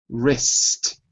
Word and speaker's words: wrist: That's the right word, but your pronunciation is not right. Listen to me. Wrist.